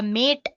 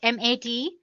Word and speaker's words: MATE: boots you into the mate desktop environment let me pronounce it m80 you can call it whatever you want mate or mate desktop environment so as you can